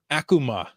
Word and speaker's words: Akuma: yes exactly this one's Akuma Akuma does not rhyme with Tacoma Akuma unless mispronounced taka